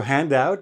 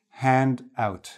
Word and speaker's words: handout: So this is the stress here, handout. And handout is even. Two separate words, each stressed individually. Whereas here you have it on the first syllable, hand, okay?